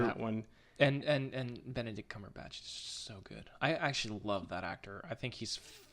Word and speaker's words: Cumberbatch: Cumberpatch? Cumberbatch.